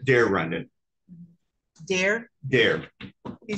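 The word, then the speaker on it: Daire: Dare. Can you spell it?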